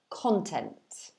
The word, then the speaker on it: content: from the phonetics content so the stress is at the beginning of the word you can see because of the little um apostrophe before the k so this means the first syllable is pronounced content okay um the meaning of